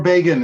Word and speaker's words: Begin: it means to start pronounced differently it's the last name of an Israeli prime minister in the 70s Andy begin beggin be in or beggin is correct and you pulled out